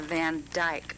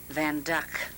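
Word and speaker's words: Van Dyck: picture the van duck people will say it's a Van Dyke but it's pronounced van duck and let me see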